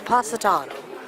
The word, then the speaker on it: Positano: Apparently I've been pronouncing it wrong. It's Positano.